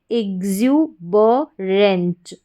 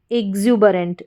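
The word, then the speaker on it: exuberant: इग्ज्यू ब, और RANT ये रेंट बन गया। ANT एंट होता है तो RANT रेंट हो गया। तो पूरी स्पेलिंग हमारी क्या बन जाती है? इग्ज्यूबरेंट, इग्ज्यूबरेंट, एग्जुबरेंट।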